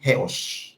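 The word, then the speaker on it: ἕως: Yang pertama, kata sampai yang digunakan itu kata Yunaninya ini, 3 huruf ini, bacanya heos.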